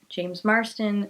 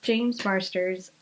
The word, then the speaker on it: James Marsters: Amy Garcia, Kevin Alejandro, James Marston again. James Marsters again. Why do I always mispronounce his name? I don't know. I adore him. I love him as Spike, and I adore him, and I always pronounce his name wrong. It's James Marsters.